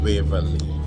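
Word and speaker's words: Waverley: The name is Waverly. Waverly. Okay. I have an accent.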